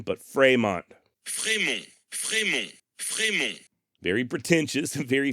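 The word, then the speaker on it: Frémont: is to indicate that the vowel should be pronounced as an a sort of like cafe or puree in other words the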